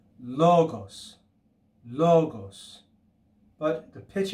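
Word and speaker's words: λόγος: Now, if we were to add an acute accent to that first syllable, instead of logos, it would be logos, logos. Okay, that's the acute accent.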